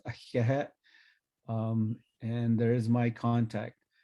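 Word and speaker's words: Ahéhee': It's pronounced ahiahet.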